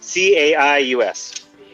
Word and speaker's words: Caius: Caius, Caius. Yes. Like the character from Twilight, one of the best movies Kristen Stewart has starred in.